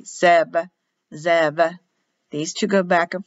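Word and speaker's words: זאב: pronounced with a v written as a b but pronounced as a v sub zev these two go back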